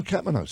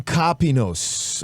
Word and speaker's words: Kopinos: And it came about from Tom Kapanos. Tom Kopinos. I got to pronounce his name right because he's like, dude, I love you. Thank you for giving me shout outs, but you're butchering my name. Is it Greek? It's Yeah, Kopinos.